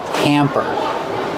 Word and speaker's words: hamper: Pronunciation used a short ah sound like ham and ma'am. Hamper.